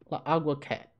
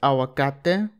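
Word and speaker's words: aguacate: realize Kim Vance AKA agua cat what aggregate I should have realized for my knowledge of Spanish that this is actually pronounced awakate which is just Spanish for avocado how the [ __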